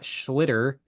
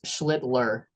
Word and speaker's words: Schlittler: I'm talking about Cam Schlitter. Be careful on the pronunciation of his name. You actually did it a little generous. It's Schlittler.